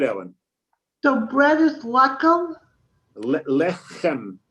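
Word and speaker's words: לחם: Lechem. In the back of your mouth.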